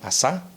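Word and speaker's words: עשה: Y es curioso porque este término, tanto el hagamos como el hagámonos, viene de una misma palabra en hebreo, que se pronuncia como asá.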